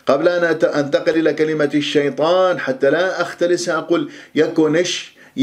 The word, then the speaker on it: الشيطان: طاء مفخمة مرتبة أولى مفتوحة بعدها ألف طاء، لا تقول الشيطان، لا تكور الشفاه، دائما المرآة أمامك وأنت تتدرب على نطق حروف الاستعلاء السبعة خصة ضغط قيض المفتوحة والمفتوحة بعدها ألف. الشيطان شيطان وليس طو، انتبهوا، نو له نو